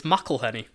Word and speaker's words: McElhenney: up yeah that's a that's definitely bonus it's McElhenney did you watch him did you watch him on like a awesome on Stephen Colbert yeah there's like a YouTube video of his interview as well yeah McElhenney I was like it's been pretty quiet week